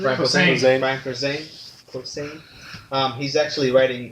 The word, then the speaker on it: Posehn: Actually, Brian Posehn, or how do you pronounce his name? Brian Posehn.